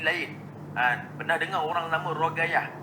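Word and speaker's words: رقية: Ruqayyah ni sebenarnya banyak nama-nama orang-orang kita nama Ruqayyah, tapi ejaannya jadi lain. Pernah dengar orang nama Rogayah. Rogayah tu berasal daripada Ruqayyah. Itu asalnya Ruqayyah sebab Qaf. Orang Arab sebahagiannya seperti Yaman, Qaf jadi Ga.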